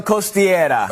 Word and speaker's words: Costiera: Jesse, give me the pronunciation. Hotel Costiera.